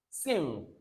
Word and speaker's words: sing: Don't pronounce the G sound. End it in the sound. So you have sing, not I am sing, not sing.